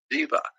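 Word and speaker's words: daiva: Spanish is D-E-U-S, but in the old Persian, D-E-U-S is spelled D-A-I-V-A, Diva, which means an evil and demonic god.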